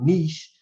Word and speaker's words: niche: And unless you find your spot and find your niche, as they say, your niche, as some people pronounce it, you're going to be lost in the sauce.